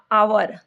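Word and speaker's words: hour: आप देख रहे हैं आवर तो इधर एच एंड H Buddha honest S द H sound is silent H sound है साइलेंट सो आवर इज है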